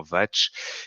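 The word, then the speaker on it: vāc: mot est une écriture vient du sanskrit se prononcent théoriquement vatche et signifie parole verbe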